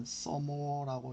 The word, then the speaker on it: some more: 근데 이걸 읽을 때 some과 more인데 두 개를 붙이면 읽을 때는 someore라고 읽어주는 게 좋습니다.